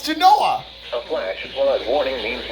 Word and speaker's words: Genoa: It's Genoa.